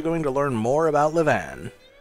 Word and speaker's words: Livane: which we're actually going to learn more about levan like that her name is actually pronounced levan so basically this nima sign transported